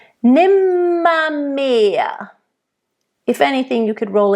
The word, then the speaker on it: nimmermehr: So, nimmermehr. Make sure it's a nice closed E, not mehr, it's mehr.